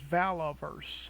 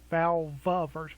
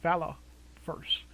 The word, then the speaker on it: Valaverse: of Pandora the name of the company is valoverse I've been pronouncing it incorrectly I think I've been saying valve first with a V but it's really Valor first v-a-l-a-v -e-r-s-e and I've been pronouncing it incorrectly